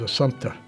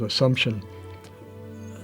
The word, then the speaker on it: Assumpta: And I remember correcting her on the pronunciation of her name, but he kept insisting it was Assumpta. I thought it was Assumption.